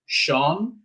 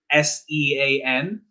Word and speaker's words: Sean: And Irish names, I'm sure you've come across like the most typical example being Sean, Sean, that you would have thought, why is it not pronounced Cian or something along those lines?